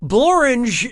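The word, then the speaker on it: Blorenge: Blorange is a real place, and it really rhymes with orange.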